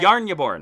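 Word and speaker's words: Jarnbjorn: which is the axe Jason how do you pronounce the name of the yarn you born that's right I'm and he falls right there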